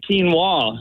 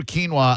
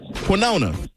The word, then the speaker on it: quinoa: I I every time I hear quinoa I think of SBK and the way he used to pronounce it, which was I hope this still works. Quona.